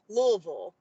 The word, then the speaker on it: Louisville: So just because I was born there and I want to help everybody before the annual business meeting, it's 2 syllables and the same vowel sound. Louisville.